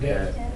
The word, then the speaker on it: debt: The one that we said over and over in Monday's lecture and it was hard to say and it's got a silent letter in it? Debt.